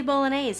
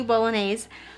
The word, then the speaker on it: Bolognese: sister and then anthony i'm going to say bolognese like the spaghetti because that's how it's spelled anthony bolognese played jay henry who